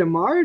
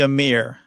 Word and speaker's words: Amir: Is it Amar, not Amir? It's actually Amir, as in America.